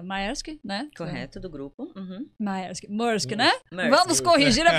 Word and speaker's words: Maersk: É a minha terceira passagem pela Maersk.